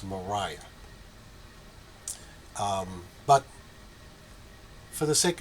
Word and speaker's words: Maria: a r i a Maria sources close to her say that it was actually pronounced Mariah um but for the